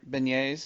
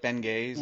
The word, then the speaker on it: beignet: could not pronounce bagets oh beign beignet yeah she would call it like Ben gays or something I'd be like what